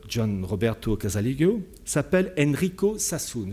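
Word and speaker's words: Sassoon: Roberto casalio s'appelle Enrico Sassoun je vous donne son nom saoune ça s'écrit sa2s2o et quand on s'intéresse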